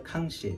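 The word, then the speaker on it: 康熙: 청대 캉시, 그러니까 우리 발음으로는 강의 시대의 그 청화라는 청화 잔인데요.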